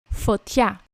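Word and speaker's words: φωτιά: Foťța.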